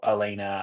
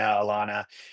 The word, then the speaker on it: Alaina: For me, frequently when I'm on a podcast or something, people mispronounce the name, or, like her name, call her Alina, Alana.